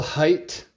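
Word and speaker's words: Hajt: cup these Santa Rings issues are hilarious Bill height that's how you pronounce it Gary Unger pretty pretty good point totals 41 goals 42 .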